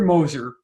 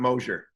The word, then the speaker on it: Moser: It's Moser, not Mosier.